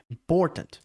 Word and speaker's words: important: Então, uma palavra como important, por é a sílaba mais forte, e aí o im e o tant, que são as duas outras sílabas, elas ficam com muito pouca ênfase. Então fica tipo important, algo que a gente